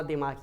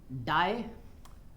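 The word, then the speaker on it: Die: ठीक है, इनकी किताब का नाम एक बार आप यहाँ पे देख लीजिए, डाई नहीं है, इसको दी बोला जाता है, एक मिनट, हाँ इनकी स्पेलिंग भी ना इतनी जबरदस्त है।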